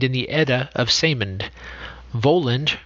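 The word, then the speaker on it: Völund: the edda of simond voland pronounced as if spelled weyland okay so that should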